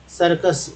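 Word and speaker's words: circus: लेकिन एक तरफ देखिए सी को स भी बोल रहे हैं और दूसरा तरफ कस भी बोल रहे है क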